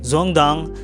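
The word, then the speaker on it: Dương Đông: and finally we have zong dong yes it's pronounced zong dong this is where I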